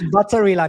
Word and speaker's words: Batarilan: Coach, how do you say your last name? It's it's butterilan because I'm half Filipino. So that's a little bit of a Spanish side.